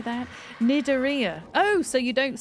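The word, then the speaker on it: Cnidaria: That's how it's spelled, but I don't know how to pronounce it. The moon jellyfish is Aurelia orisha. Is that how I say that? Nidaria.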